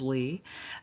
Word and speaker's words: Leigh: My name is Lee, spelled Leigh. So it's way easier than it looks, that's for sure. But I get lay because of that damn word slay.